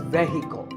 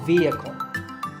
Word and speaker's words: vehicle: often pronounced wrongly as vehicle but the e is a long vowel and the H is silent so vehicle number eight is this